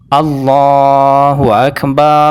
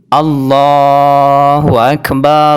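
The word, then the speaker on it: الله أكبر: rnya dirubah menjadi fathah contoh yang salah allahu akbar allahu akbar allahu akbar jadi rnya yang sebelumnya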